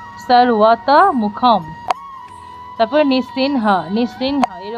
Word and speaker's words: নৃসিংহ: হয় যদি দেখি আমরা কোন শব্দের মাঝে অনুস্বার আছে তাহলে শুদ্ধ সংস্কৃত উচ্চারণ হসন্ত যুক্ত ন হবে অর্থাৎ দন্তন্য হবে আর যদি কোন শব্দের